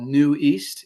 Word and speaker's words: Nueast: One is from NC State called New East. It's spelled Nueast.